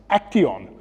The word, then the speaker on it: Actyon: It's actually pronounced Action, which is an amalgam of action and young.